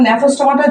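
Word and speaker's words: Gnathostomata: সাইক্লোস্টোমাটা এখানে আছে ন্যাথোস্টোমাটা এখন ন্যাথোস্টোমাটা জিটা সাইলেন্স থাকে এটার উচ্চারণে আমরা আনি না প্রোনাউন্সিয়েশনে আমরা যখন স্পেল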